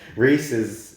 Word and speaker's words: Rhys: sir Otto uh-huh the actor called I can't pronounce this Ryan's ifans please Reese's okay cool fine um oh he's he's worked